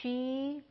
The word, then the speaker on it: Sidhe: Okay, so so the She, Sidhe, is how this is spelled.